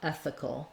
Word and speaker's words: ethical: You have a little bit of an sound, like a schwa before your L. Cull, ethical.